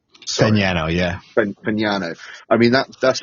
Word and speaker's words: Fagnano: But to be fair, with what you said about, is it pronounced Fagnano? Fagnano, yeah.